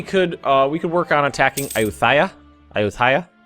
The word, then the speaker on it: Ayutthaya: Ayutthaya? I think you got to pronounce that T. Ayutthaya.